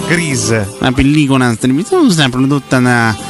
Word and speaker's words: Grease: Guardi, la pronuncia inglese è Grease.